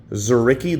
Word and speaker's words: Dzuricky: Dzuricky, the D is silent, 2024.